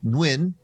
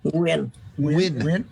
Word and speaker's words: Nguyen: I always say Nguyen. Nguyen. Yeah. Nguyen. Without the N, Nguyen. Right? And there's I think the dialects are different, north and south. In south, it's Nguyen.